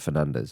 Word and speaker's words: Fernandes: I love how when when people were trying to pronounce his name and he just went just say it Fernandez.